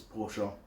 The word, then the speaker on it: Porsche: Those who know how to pronounce it know it's Porsche.